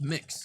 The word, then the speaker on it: Mx: they mentioned mx uh mix i actually think it's pretty cool like wait wait is it pronounced mixed yes i don't like it